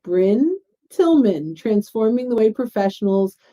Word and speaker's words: Brynne: I get Bri Briney how do you pronounce your name and it's Brinn Tilman so I learned from